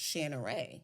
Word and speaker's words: Shaneiree: name is royalty and it's pronounced shanor and it means dark Beauty and I turned to